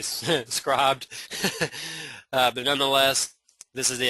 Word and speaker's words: Scribd: go over to uh scrubbed or Scribd I'm not sure exactly how you say it it's spelled scrib D but it sounds like it should be scribed but nonetheless this is